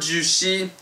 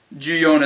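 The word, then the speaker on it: 十四: 4, ju-yon is how I generally pronounce it. I've heard ju-shi, however, if I'm not mistaken, ju-yon is quite a bit better. As that's more what I'm used to hearing. I'm more used to hearing ju-yon as opposed to ju-shi.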